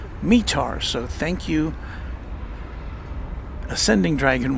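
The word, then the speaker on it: METAR: DFW and the envoy Pilot lounge and it's pronounced mear so thank you ascending Dragon one our resident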